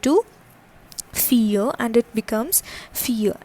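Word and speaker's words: filles: fille and it becomes fille. That is, the pronunciation remains the same but an extra s gets added over to the fille.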